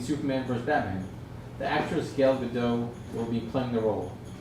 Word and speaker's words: Gal Gadot: The actress Gal Gadot will be playing the role. It's actually pronounced Gail Gadot.